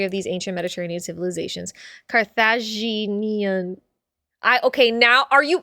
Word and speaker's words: Carthaginian: Not sure, but I think the G belongs in the next syllable.